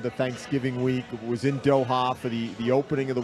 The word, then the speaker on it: Doha: Okay, first of all, let's work on the pronunciation. Doha. Not Doha. Doha. It's Qatar, but Doha.